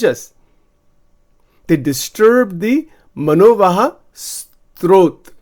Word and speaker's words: srotas: They disturb the manovaha strot. S-R-O-T-A-S.